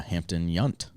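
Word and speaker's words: Hampton Yount: much and then uh Hampton yunt nice which is how both hosts pronounced it and how I didn't I wouldn't have guessed were you gonna guess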